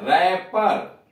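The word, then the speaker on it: wrapper: Rain, rain शासन, और उसे W हटा दिया जाता है। रैपर, यानी एक पी का उच्चारण नहीं हो रहा है।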